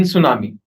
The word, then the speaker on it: tsunami: For example, we are not pronouncing T in tsunami.